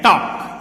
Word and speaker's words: talk: तो ये है TALK, टॉक, इसमें L साइलेंट है।